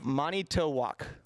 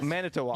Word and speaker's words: Manitowoc: Manitowak. Well, that's Manitoba. close. That's close. That's close. Manitoba. You guys, Manitowoc.